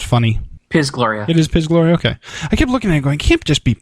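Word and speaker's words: Piz Gloria: uh pis is it piz or is it pronounced funny pis Gloria it is pis Gloria okay I kept looking at it going can't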